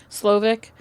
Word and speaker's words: Slowik: How do you pronounce his last name? Slovic.